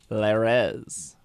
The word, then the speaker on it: Lares: lars is it spelled l-a-r-e-s guardian of deity and ancient roman religion never heard of that in my life this is just a person lares that's how they say it on wikipedia leires oh they're like minor